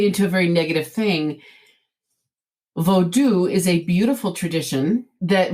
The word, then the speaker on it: vodou: went to a fete vodou which is in english we would say a voodoo ceremony voodoo is an extremely incorrect pronunciation it's vodou how do you spell